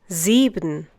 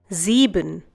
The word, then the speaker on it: sieben: and is followed by a wall it is pronounced as if it were the English see similarly in the next one jibon once again Sieben acht once again act 9 once again knowing